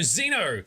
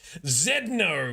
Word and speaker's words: Zeno: the system meanwhile so Zeno it's how you pronounce name excellent now if I was Hardcore Australian I might say Zed no cuz that's how we pronounced the the letter Zed same as the Canadians